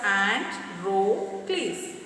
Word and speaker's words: Androcles: Androcles, pronounced as Androcles, was a slave.